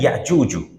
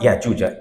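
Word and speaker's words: يأجوج: The name is actually Ya'juju. It's not Ya'juja. Ya'juja because inna. Inna is forcing it to be in the nasab status.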